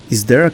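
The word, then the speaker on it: Isdera: And these are McLaren F1, Ferrari F50, Lotus GT1, Jaguar XJ220, Ford GT90, is there a Commendatore 112i, and yes, that's how it's pronounced, Ital Design Kala, Lotus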